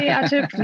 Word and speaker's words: Atif: And I think I pronounced it correctly, Atif.